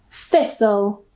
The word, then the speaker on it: thistle: The next rule is when we have the spelling S-T-L-E, soul, soul. So we don't pronounce the T. Usually, we don't pronounce the T. For example, nestle, thistle, castle, or castle, wrestle.